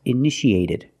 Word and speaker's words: initiated: initiate in the past initiated the second T is between vowels so we pronounce it like a fast D edited initiated initiated it